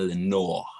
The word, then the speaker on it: Lenore: You gotta say it like that, Lenore.